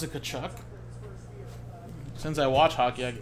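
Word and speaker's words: Tkachuk: I don't know, I pronounce it Kachuk.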